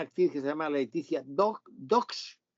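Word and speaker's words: Dosch: que se llama Leticia Dox, no Bosch, Dox, pero que se escribe como si fuera Bosch, que hace también el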